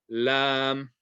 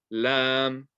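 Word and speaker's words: ل: So this one is lam, lam, lam, kaf, lam. Okay, kind of like the L, and it even kind of looks like an L.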